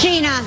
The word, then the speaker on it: Gina: It is pronounced Gina. It's pronounced Gina. Gina, not. Yeah.